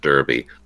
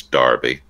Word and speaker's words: Derby: of darby we apologize we pronounced it derby like the hat or the kentucky race but it's darby spelled with a knee